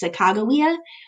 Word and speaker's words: Sacagawea: and that is Sacagawea sometimes you'll also hear her name pronounced Sacagawea which is probably actually more accurate in Shoshone but a lot of people will still just call her Sacagawea including myself just kind of out of habit so Sacagawea or Sacagawea